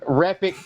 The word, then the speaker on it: Repik: Now, I think it'd be really cool if we saw some Repik T-shirts out there that said "Repik is epic."